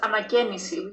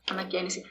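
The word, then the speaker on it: αναγέννηση: Yeah, in Greek, it's pronounced anagenisi, which is renewal, like renovation, what you said before, anagenisi. The way you pronounce it is probably the ancient Greek.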